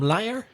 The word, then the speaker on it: liar: L I II and the pronunciation of the noun liar you've got the vowel sound I I hope I lie and the schwa sound so it's liar liar and how do you